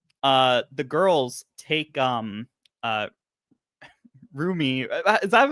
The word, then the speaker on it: Rumi: And they even like the girls take uh Rumi. Is that how you pronounce her name? I'm so Rumi. bad with Yeah, these names. Rumi.